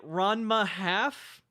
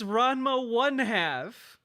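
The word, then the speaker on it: Ranma ½: and I am con you're calling it Rona half you don't say it like it's one word it's RMA 1 half oh no concerned perhaps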